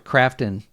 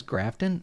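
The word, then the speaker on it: Krafton: Now, is Crafton the same as Grafton, or did I get that wrong? Is that, I thought, or did somebody misspell that? Grafton buys Hi-Fi Rush. It should be Crafton. I thought, is it Crafton or Grafton? It is Okay, I got it right. It was Crafton.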